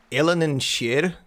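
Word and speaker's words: Eilean Siar: Apparently, if I heard it correctly, Ellen and Sheer, or Sheer, is how you say that.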